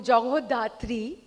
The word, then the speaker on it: Jagadhatri: Jagadhatri, Bengali में अगर बोलूँ जगहोधात्री, being a Bengali, I would want to pronounce it that way, is जैसे show का नाम भी है, माँ दुर्गा का ही एक रूप है.